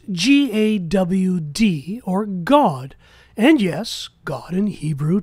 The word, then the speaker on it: Gad: The astrologers of Babel called Jupiter or Zeus by the name Gad, pronounced God.